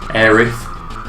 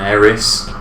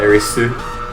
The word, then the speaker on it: Aerith: get in line with how she was named in Japanese, Aerith, rather than Eris, but because they pronounce that Erisu, they just don't know if it's which.